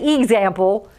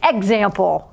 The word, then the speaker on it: example: example x is closed we have the x which is a consonant in the e so it sounds like e not e we don't say example it's example right so we hear